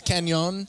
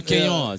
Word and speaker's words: Cannon: Am I pronouncing that right? is. It's it's Canon. Oh. Oh. Canon.